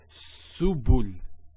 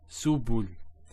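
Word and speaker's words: سبل: So to pronounce this has a S sound. So su, bu, and this is the lam, like the letter L. So subul, subul. Now I'm not pronouncing deliberately.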